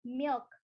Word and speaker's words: milk: Susu itu pronunciation-nya adalah milk. Ada K sedikit di belakang, kayak nyangkut doang gitu.